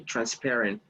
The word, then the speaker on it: transparent: Remember that the stress for this word goes on the second syllable. So you say transparent.